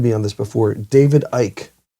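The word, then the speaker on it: Icke: David Ike. Yeah, it's like David Icky, I think is what it is.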